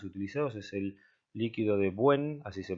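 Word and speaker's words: Bouin: de los más utilizados es el líquido de 'buen así se pronuncia que es una mezcla de ácido pícrico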